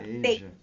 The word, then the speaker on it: Beija: Beija. Just look at the Beija. color. Beige. It's because the E and I, so it's really particular in Portuguese. Beija. Beija. It's like going up. Beija.